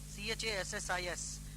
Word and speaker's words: chassis: Chassis, C-H-A-S-S-I-S. Some people pronounce it as chassis.